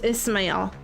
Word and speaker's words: Ismael: Ishmail is what I usually say. But I've heard so I know they pronounce things differently, right? Cuz they're Korean. I've heard them say Ismael. See, that's what I thought. I thought it was Ishmail, but he says Ismael.